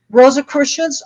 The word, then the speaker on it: Rosicrucian: How do you pronounce it again? Rosicrucians, Rosicrucian, like I'm in a spelling test here.